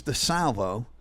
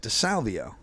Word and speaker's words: DeSalvo: And I go, "Yeah, his name's DeSalvo, and I pronounce it DeSalvio."